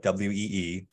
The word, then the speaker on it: Oey: people are wondering about my last name is spelled oey but it's pronounced like w-e-e it's an Indonesian Chinese name with a Dutch spelling um I grew up